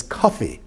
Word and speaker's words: Kofi: Friday your name is Kofi K fi we phonetically pronounce that as Coffey or there are thousands of